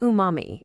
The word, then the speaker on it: umami: It's pronounced umami.